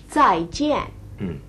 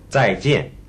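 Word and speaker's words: 再见: Did you notice they say 在? 在 is the sound of D and Z at the front of the word in English. The z, 在. If you can't say it, you can just say 在. But it's better to try and get that z sound in the front.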